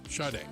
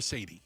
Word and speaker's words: Sade: Shade. All right. Shade made the Hall of Fame. Good for her. It's not Sade. It's not Sade. Well, certainly not Sad or Sadi.